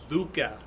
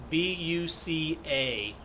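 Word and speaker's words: VUCA: based on this acronym buca b-u-c-a and that stands for volatility uncertainty complexity and ambiguity again it's buca i think is how you pronounce it volatile volatility uncertainty complexity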